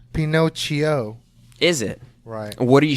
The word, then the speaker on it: Pinocchio: to get into here it's actually pronounced Pinot CHEO is it what are